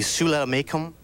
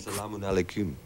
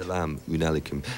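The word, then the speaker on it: السلام عليكم: Shulamakum? No. The reason I was told that is on my... Salamun alaikum. Oh, sorry about that. Salamun alaikum. Actually, the Hebrew version is more like your pronunciation, actually.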